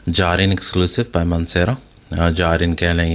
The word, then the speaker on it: Jardin: जारिन कह लें या जॉरिन कह लें, बहुत लोग इसे जॉर्डन पढ़ते हैं, लेकिन टू be very honest it's अ जारिन, JARDIN। एंड शायद प्रोनाउंसिएशन इन फ्रेंच और something it would be अ जॉर्डन, बट I would say जारिन।